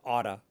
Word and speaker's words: ought to: they will not say ought to. They won't pronounce it in its full form. They'll say ought to or oughta.